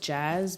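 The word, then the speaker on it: Jxzz: the audience knows so my name is pronounced Jazz but it's spelled j xzz fire heavy on X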